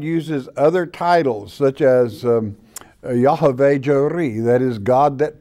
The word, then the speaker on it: Yahweh: Our Father's name in the manuscripts is Yahweh, okay? That is the Hebrew pronunciation.